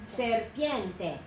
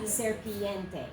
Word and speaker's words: serpiente: 3 syllables. Syllable, syllable, syllable. Serpiente. And not serpiente. It is serpiente.